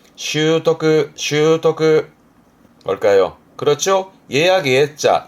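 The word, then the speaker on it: 習得: 발음은 슈토크, 슈토크.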